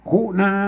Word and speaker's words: ขุณณา: เพี้ยน สำเนียง นะ ครับ ต้อง ไป อ่าน แบบ ที่ 3 อ่าน ว่า คุณ น้า คุนา นะ ครับ ต้อง อ่าน อย่าง นี้ นะ ครับ อ่าน ภาษา